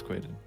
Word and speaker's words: Kwaidan: It's Kwaidan. I swear.